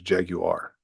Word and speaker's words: Jaguar: I think the correct pronunciation over there is Jaguar. Yeah. Jaguar.